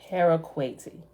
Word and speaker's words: Haraquati: Haraquati.